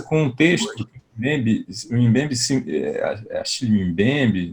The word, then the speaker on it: Achille Mbembe: A gente começa com um texto do Mbembe, Achille Mbembe, né? Tem várias pronúncias do nome dele, eu chamo assim.